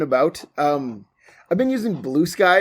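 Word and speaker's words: Bluesky: I am I am once again out and about, um, I've been using Blue Sky or Blue Ski as I usually pronounce it because it's one word um, a lot lately and so you can follow me there at.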